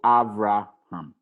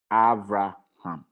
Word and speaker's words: Avraham: This is Beit, but there's no dagesh in it, so it is pronounced V instead of B.